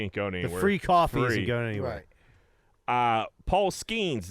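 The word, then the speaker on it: Paul Skenes: going free coffee uh Paul schemes is how you say his name the Pirates number one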